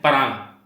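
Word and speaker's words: Pará: The options are Para, Amapa, Espírito Santo and Paraná. The state which is having least urbanization in Brazil is Para, or you can call it Para. पैरा बोलिए या पारा बोलिए, बस Paragon मत बोलिए and spelling गलत मत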